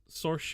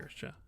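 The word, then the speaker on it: Saoirse: The three of you guys, Sorche, did I say it right that time? I didn't. Siorche. Sirsha, right? Yep. Sirsha.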